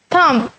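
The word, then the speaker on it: thumb: Articulate the words having a silent B, उन्होंने कहा है कुछ ऐसे वर्ड हैं जिनमें बी की आवाज़ साइलेंट होती है। बच्चों साइलेंट हम लोग कहते हैं जिनमें हम लिखने में वर्ड यूज़ करते हैं लेकिन बोलने में वर्ड यूज़ नहीं होता। कम्स, थम।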